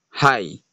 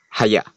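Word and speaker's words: ה: And some people say the pronunciation of this letter is high. But the original sound or the pronunciation of this letter is haya.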